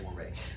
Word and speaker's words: mores: Notice how moire sounds like, it looks like more, it's pronounced moire. How it sounds like moral, right?